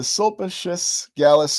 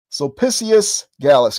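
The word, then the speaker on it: Sulpicius Gallus: The Sulpas The Sulpaceious Galas crater. I'm not pronouncing it properly. Give me one second here. Sissious Gallas crater. There we go. Had to had to switch into Latin mode there.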